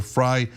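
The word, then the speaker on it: Frey: Fry is pronounced like French fry."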